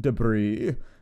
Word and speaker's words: debris: obviously we want that I know that deis is not how it's pronounced please don't correct me and then we're going to go back over here every time I don't say anything about it there's like 10 people in the comments that are like actually it's pronounced debris I'm like yeah I